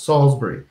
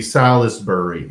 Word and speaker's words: Salisbury: them think it's Salisbury it's two syllables Salisbury but sometimes it would be Silas burry so he would accommodate